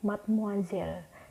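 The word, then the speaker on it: mademoiselle: Perancis dibaca muncul dan Made moiselle dibaca Mad muzzle selanjutnya pada translasi sendiri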